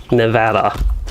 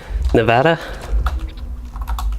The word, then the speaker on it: Nevada: Nevada. No, that was a little bit stressed on the O at the end. Nevada? There. Took me 3 tries, but I think I said it right.